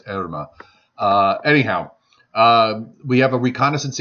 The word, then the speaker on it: Irma: at guess what we're looking at irma well erima which is actually the way it should be pronounced and i've been pronouncing it out Irma